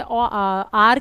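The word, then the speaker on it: hour: silent भी होती है, जैसे आर के अंदर और ऑनेस्ट के अंदर एच साइलेंट है, तो हमें तो साउंड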